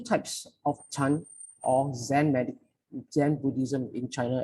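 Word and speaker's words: 禅: Chan is the Chinese pronunciation of Zen.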